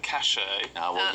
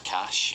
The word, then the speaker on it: cache: Apart from I would have said cachet. You had to sell it as Yeah, not I cash. said cachet. Yeah, I said cachet. Is that not correct? No, it's cash.